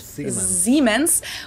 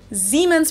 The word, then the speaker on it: Siemens: you're trying to say, Siemens versus Siemens to us is tomato tomato. So I personally wouldn't even say that Americans pronounce this one wrong.